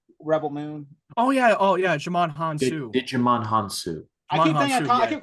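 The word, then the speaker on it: Djimon Hounsou: name very white but the right pronunciation of what I've been hearing is jaman hanu yeah I keep get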